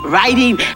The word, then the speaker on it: writing: begins with a w it does but the w is a silent letter so r is the first letter you say exactly silent letters are seen